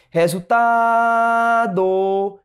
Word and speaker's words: resultado: Resultado, resultado. A sílaba tônica é o tá.